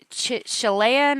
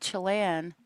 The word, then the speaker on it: Chelan: Okay, I went to Google, and I know it's Chelan, I think is how it's pronounced.